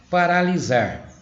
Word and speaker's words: paralisar: Paralisar. Tem som de Z, mas se escreve com S.